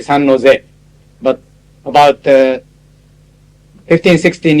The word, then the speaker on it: San Jose: The code for San Jose, San Jose is, by the way, it's a Spanish name, San Jose. It should be pronounced San Jose. Most Americans say San Jose.